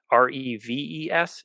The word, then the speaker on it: Reves: You can find me literally, I think, on every social media platform at Reves, which is Reves. It's like Reeves, one less E, rhymes with Beavis.